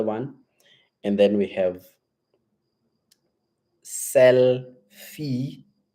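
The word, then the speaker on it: Sellfy: and then we have sell fee it's selfie you know the selfie of taking pictures a selfie but this one it's sell is in your selling so it's s e w l FY selfie and and then Shopify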